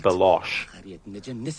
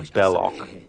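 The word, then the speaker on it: Belloq: Jones movie Indy's friend Salah mispronounces the name of the villain and calls him balosh but the villain's name is actually bellock in this Quest this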